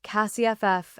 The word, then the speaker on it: CSF: I had developed the client acquisition sequencing framework, internally called CSF, which everyone pronounced CASIFF, and which was, in